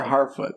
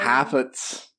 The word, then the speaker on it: Harfoot: Half-Foots. They do, you're right, because they don't pronounce the R right. Yeah, it's Halffoot, so it's Harfoot.